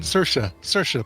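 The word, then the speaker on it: Saoirse: cesari ronan christoph waltz how did you pronounce uh sercia roman's ceremony ronan sercia rhymes with inertia did i say i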